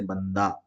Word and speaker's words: بندہ: معلوم ہوتی ہے، جیسے بندہ۔ تو یہاں ہا کا تلفظ نہیں ہوتا ہے لیکن لکھا جاتا ہے، اور پڑھا کیسے جاتا ہے؟